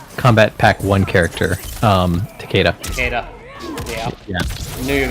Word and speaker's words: Takeda: names it refuses because people say taquita but it's actually Takeda is it not uh